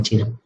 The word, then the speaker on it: chi: acupuntura o medicina tradicional china, estamos hablando de que nosotros tenemos una energía principal o básica, que es la energía chi o ki, que se escribe así, pero se pronuncia chi, donde estamos hablando que